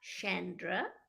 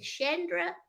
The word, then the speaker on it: Chonda: and hi Chandra and it's not Chandra either so it's shendra and Chandra but there's no R in my name and